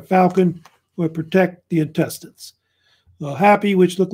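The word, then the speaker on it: Hapy: like that and um it's pronounced I think happy or hoppy one of the probably happy and um so each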